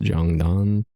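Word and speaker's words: 장단: Pronounced Jungmori is a type of pronounced Jongdan, Korean traditional rhythm.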